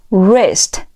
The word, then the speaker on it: wrist: 好，我们再来往下看，下一个词表示手腕读作 wrist wrist wrist。